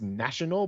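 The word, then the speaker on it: Nacional: I think it's supposed to be pronounced National, but it's spelled NAC I O N A L.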